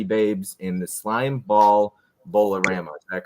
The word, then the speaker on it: Bowlerama: will be sorority babes in the slime ball bowlerama is that correct did I pronounce that correctly yeah um yeah bowlerama there we go Rama yeah so anyways we'll